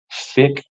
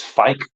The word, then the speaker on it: Fike: young kid called Dominic Fick. I almost want to say it's Fike, but it sounds wrong to pronounce it that way. Dominic Fike, like it just sounds like a weird name.